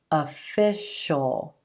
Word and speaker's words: official: When the sound right before the suffix is the sh, sh sound, then you're going to pronounce the suffix as just the dark L, as just a single syllable. Ol, shul, shul, official, substantial, special.